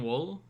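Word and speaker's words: Whewell: this person William uh it's w h e w l so it's not anything like that yeah William wool yeah it's just like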